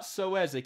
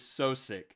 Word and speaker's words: Sosik: It is not Soezic, it is Sosik.